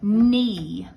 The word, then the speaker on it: knee: spelled with an N, but this is a ghost digraph. So I'm going to spell it K-N. K-N. N. N. And I just got to remember that this K is being quiet. It's just pretending it's not even there.